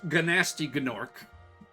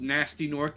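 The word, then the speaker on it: Gnasty Gnorc: so but yeah that's gasty gorc gasty is a really funny name I mean it's it's technically pronounced nasty norc usually don't pronounce the G but I like saying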